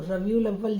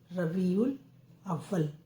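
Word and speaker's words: ربيع الأول: हिसाब से रबीउल अव्वल रे बे ये एन अलिफ लाम उल रबील अलिफ वाव अब वाव ला वल अव्वल रबी उल अव्वल रा बा और बड़ी की मात्रा छोटा उ ला उल रबी उल छोटा आ आधा वा फिर पूरा वा और ला अव्वल रबी उल अव्वल अब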